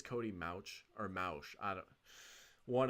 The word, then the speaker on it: Mauch: It's Cody Mauch, right? I thought it was Cody Mock for the longest time, but I think it's Cody Mauch or Mauch.